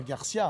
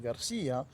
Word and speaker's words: García: possible que Alan Garcia, ça ne se prononce pas Garcia, hein, c'est Garcia, c'est un accent aigu sur le i, c'est ce qui fait la tonique.